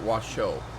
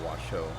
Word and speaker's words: Washoe: mean, who's the author, he calls it Washoe. So I suppose I should defer to his pronunciation and call it Washoe.